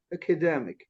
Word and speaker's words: academic: Academic.